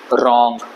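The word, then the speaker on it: wrong: word है कि नहीं बट इसको हम लोग आर ओ एन जी की तरह प्रोनाउंस करेंगे क्योंकि डब्लू साइलेंट है रंग ये क्या है ये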